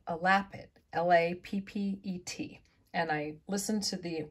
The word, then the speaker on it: lappet: And someone commented that it was called a lappet, L-A-P-P-E-T. And I listened to the pronunciation and that's how they said to say it, lappet.